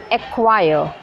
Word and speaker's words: acquire: Acquire.